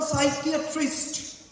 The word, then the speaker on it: psychiatrist: And I wonder, any of you have ever heard of a psychiatrist snoring? They never. In fact, they do, but you can't hear because P is silent.